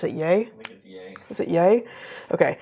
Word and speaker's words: Ye: ly known as Kanye West how do you pronounce is it yay is it yay okay it's like Kanye yeah